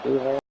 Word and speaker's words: Doohan: I was saying his name wrong. Doohan.